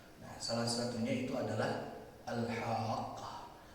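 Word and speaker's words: الحاقة: Nah, salah satunya itu adalah Al-Haqqah. Dia dibaca dengan cara memanjangkan huruf ha, dan di qafnya itu ada tasydid yang menandakan kita harus membacanya dengan syiddah, ada penekanan di situ, memberikan arti dan makna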